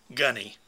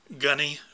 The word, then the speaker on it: Gaughknee: by the name of gunny and it's unusual spelling g-a-u-g-h-k-n-e-e pronounced like the the gunny from an NCO from the Marines and uh really a